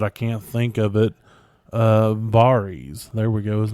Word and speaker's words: Varys: Varys. There we go. His name was Varys. Varys. Also, that's how they pronounce it in the show.